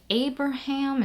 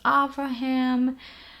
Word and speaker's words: Avraham: Same with Abraham is sometimes Avraham.